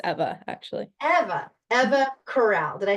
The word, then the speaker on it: Corral: help me coral Coral and first name is pronounced Eva actually Eva Eva Corral did I say it right yes perfect so